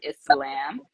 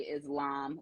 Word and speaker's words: Islam: on the pronunciation of Islam there is an S there really it's a scene because it is an Arabic word but um a lot of times we say Islam because that is our